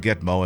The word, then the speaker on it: GTMO: guantanamo bear nsgb also named gt meal gtmo pronounced gitmo as by as a jargon by the u.s